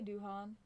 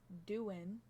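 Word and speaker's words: Doohan: Alpine um Jack okay apparently I've been saying his name wrong I say Duan um but apparently it's Doan Jack yeah because well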